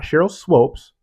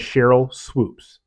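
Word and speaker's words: Swoopes: swoops his name wrong she's not Cheryl swopes her name is Cheryl swoops and it's been said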